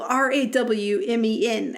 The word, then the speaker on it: Rawmen: It's a game called Ramen, but it's spelled Rawmen, as in raw men.